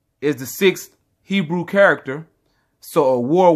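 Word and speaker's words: אור: So the way you say it is a war, which means illumination, or simply put, light, okay?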